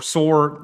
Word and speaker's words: Tyre: Daily strikes on Tyre or Soor, if you're Arabic, that's how you say it.